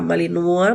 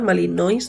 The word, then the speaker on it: Malinois: perro policía creo que se le pronuncia esa raza malinúa malinois malinois creo que es que son perros